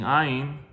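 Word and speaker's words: ע: But when you're using ayin, when you're saying ayin, when you pronounce ayin, you have to pronounce it very deeply, very hardly, because that is its sound. Ayin, ayin, ayin. It comes from the throat, like from the inside.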